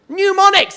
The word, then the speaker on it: mnemonics: is impossible to spell got a silent m on it mnemonics silent what are you